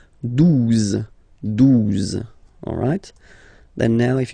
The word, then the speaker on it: douze: onze, okay, douze, douze, O, U, the two together will give you the sound OU, okay, and then Z, douze, douze, alright.